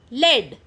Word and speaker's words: lead: The words given to you are laid lead. Laid lead. So which is the word rhyming with head? Is it laid or is it lead? Yes, you are correct. Lead. Head lead.